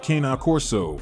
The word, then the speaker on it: Cane Corso: The Italian Mastiff, or Cane Corso, which is phonetically pronounced Cana Corso, is descended from the huge Roman military dogs.